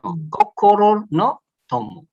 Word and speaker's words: Kokoro no Tomo: Jadi Kokoro no Tomo artinya, jadi bacanya jangan datar begitu Kokoro no Tomo. No. Kokoro no Tomo.